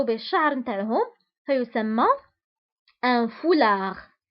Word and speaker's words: foulard: وبالنسبة لهذا الثوب اللي كيرتديوه النساء كيغطوا به الشعر نتاعهم فيسمى un foulard. وبالنسبة للفولاغ تكتب بالدي في آخر الكلمة ولكن لا ننطقها.